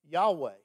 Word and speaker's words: Yahweh: the ancient hebrew language scholars don't even know exactly how to pronounce it the best guess they can come up with is something like yahweh it was so holy